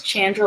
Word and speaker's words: Chandra: because it's it's like for me it's chandra like jackie chan and people it like